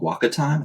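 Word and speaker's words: WakaTime: then further from there discovered this service called Waka time I think that's how you pronounce it and so it's actually like an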